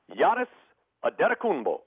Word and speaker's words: Giannis Antetokounmpo: The pronunciation is? Giannis Antetokounmpo.